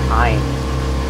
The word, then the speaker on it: Ayn: I also maybe believe I should it's pronounced Ayn.